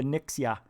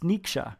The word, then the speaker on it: Niksha: So I kept calling you Nixia. It's Niksha. Here we go.